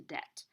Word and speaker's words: debt: money, not going into debt. And depth is measuring how deep something is. So the word you wanted, I think, mostly last week was the first one, debt, with a silent B.